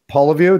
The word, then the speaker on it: Poliviou: She is both of our friends, one of our athletes, Cassandra Poliviou.